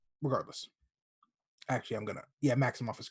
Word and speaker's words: Maximoff: wanda maximoff and i think her name is maximoff i think it's how you pronounce it i could be wrong i think so regardless actually i'm gonna yeah maximoff is correct uh and her can we call